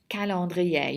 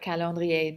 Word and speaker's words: calendrier: Anyway, okay, so let's go over the pronunciation of this vocabulary. We have the word calendrier. Calendrier. You should know what calendrier means.